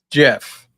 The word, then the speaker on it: Geoff: Jeff.